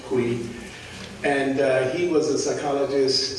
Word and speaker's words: Coué: Could pronounce it, it's French, Coué.